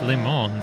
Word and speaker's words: Le Mans: Yeah, I mean, if you want to pronounce it in French, it sounds like it's Le Mans, so yeah, it sounds like lemon.